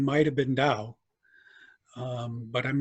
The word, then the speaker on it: Dau: The Dow Library, which is spelled D-A-U, the Dow Library and Archive at Historic Trinity Lutheran Church in downtown Detroit.